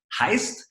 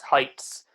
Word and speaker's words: Heights: He's co-founder of Heist, and we will hear the success story right now from the beginning. Hello, Dan. Hello, how are you doing? And just to confirm this, the pronunciation, it's Heights.